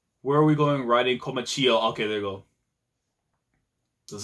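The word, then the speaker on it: Komachiyo: Komachio. There you go, that's the name. You know what? My pronunciation in the morning, it sucks, so if there's something else, it is what it is.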